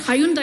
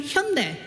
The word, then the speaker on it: Hyundai: because I'm Korean and I know what Hayundai is supposed to pronounce. It is supposed to be Hyundai and Samsung is not Samsung, it's Samong.